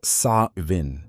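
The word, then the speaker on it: Samhain: They called this night Sam Hoin, pronounced so giruin or sa vin depending on the region.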